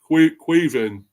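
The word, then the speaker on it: Caoimhín: Um, his name is pronounced quven. Quan. Oh, Queven.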